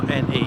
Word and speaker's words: Thurne: So the last time you saw us we were on the River Bure, and now we're on the River Thurne, Thurne. I'm sure that's how you pronounce it.